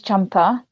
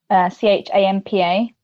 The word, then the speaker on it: Champa: My mom's name is Champa, Champa. Yeah, it's always been pronounced wrong with people, but, you know, that's cool.